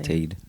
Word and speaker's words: apartheid: Apartheid is actually how you say it. Apartheid.